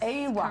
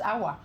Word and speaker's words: Aiwa: Yes, Aiwa. correct. Okay, because last night when I read the research, I thought it was Awa, as in somebody hidden.